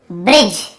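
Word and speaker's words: bridge: तो देखिए बाइक, type, name, shine, change, ब्रिज, यहाँ पर भी देखिए डी भी साइलेंट है और ई भी साइलेंट है, दोनों आ गए ब्रिज वाले में।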